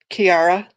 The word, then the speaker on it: Kiara: you chera so um Kiara is that how I pronounce it yes and so he um